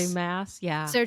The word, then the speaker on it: Maas: Mass, yeah.